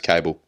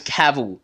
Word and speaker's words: Kabl: my D your name's cable right this was this was one of the points I thought that it was caval because it's spelled how